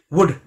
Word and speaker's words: would: तो WOULD, वुड, L silent होता है, वुड नहीं बोलते, वुड बोलेंगे।